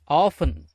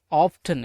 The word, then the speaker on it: often: OFTEN, ஆஃபன். இதை ஆஃபன் கூட உச்சரிச்சுக்கலாம், இல்லை ஆஃப்டன் எப்படின்னு கூட உச்சரிச்சுக்கலாம்.